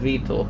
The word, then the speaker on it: Vitor: It's actually pronounced Vitor for whatever reason.